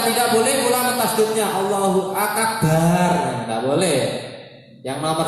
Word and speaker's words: akbar: Nomor 4, menggunakan lafaz akbar, namanya takbiratul ihram. Nomor 5, urut atau tertib, ya, di antara dua lafaz dalam pengucapan Allahu Akbar.